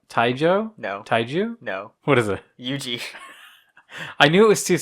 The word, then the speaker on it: Yuji: no taijo no taiju no what is it yuji i knew it was two syllables sure that wow jim all right so